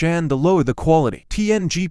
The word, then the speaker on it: PNG: PNG, pronounced PNG, is a patent-free compressed graphics format that restores all image details when the file is viewed.